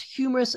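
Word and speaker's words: humerus: partial destruction of the head of that bone pronounced humorous attribute look at how thin that bone is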